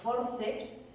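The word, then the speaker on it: fórceps: a forceps, porque fijaos, forceps es una palabra llana, forceps, la fuerza de voz la tiene en la segunda sílaba empezando por detrás y termina en s,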